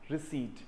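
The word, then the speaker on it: receipt: So this word is pronounced as रिसीट, रिसीट।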